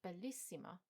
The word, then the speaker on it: bellissima: Bella is stressed on the penultimate syllable, but bellissima is stressed on the first I.